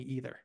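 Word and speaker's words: Aether: we were like okay it's definitely either and then like 50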